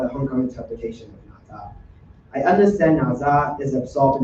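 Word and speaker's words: 哪吒: So um Naza is how we call them in Cantonese or how I pronounce in Cantonese.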